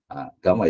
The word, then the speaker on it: Gamma: Gama ya, saya ada orang Indonesia bacanya Gama saja.